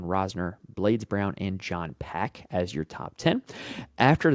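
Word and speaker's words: Pak: Nick Hardy and John pack actually I'm being told that that's pronounced Pac at number 10 uh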